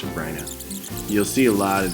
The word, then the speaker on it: Sabrina: life Sopranos and Holly it is pronounced sabryna's you'll see a lot